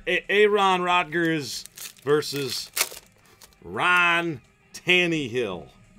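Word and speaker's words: Tannehill: Ron Rogers versus Ron tani he'll tani he'll it's how they say it I guess Tanny Hill versus Rogers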